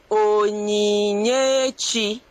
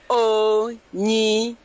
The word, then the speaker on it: Onyinyechi: that name is pronounced as Onyinyechi. Onyinyechi. Now, Onyinyechi means God's gift.